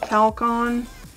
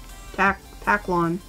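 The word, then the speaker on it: Taklon: The bone talcon. Taclon. I've been saying it wrong the entire time.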